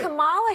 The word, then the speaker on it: Kamala: Let me actually pronounce her name right. Kamala Harris.